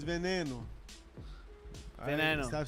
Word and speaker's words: Veneno: veñoño, it's veneno.